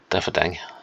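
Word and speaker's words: Déifferdeng: Well, it's pronounced in several different ways depending on which of the languages of the country you speak. And Diffadeng seems to be, that's the Letzebergish way of saying it.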